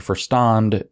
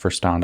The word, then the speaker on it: Verstand: It's not pronounced Verstand. I got corrected by a German. What a surprise, I got corrected in my German. Verstand is a low level